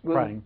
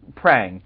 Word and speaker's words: Prang: Did I pronounce that right? Sort of. Sort of. Well, came close. Prang. Prang. You got a little bit of It almost sounds Japanese.